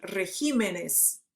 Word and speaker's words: regímenes: Eu vou tirar esse acento do re, do E, e vou botar para o ri, vou botar para o I. Regímenes, certo? Também é o único caso que acontece isso, tá?